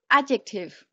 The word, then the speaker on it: adjective: Danger is a noun, but danger is an adjective. The letter D cannot be pronounced. Yeah, it keeps silent. Keep silent about the letter D. Adjective.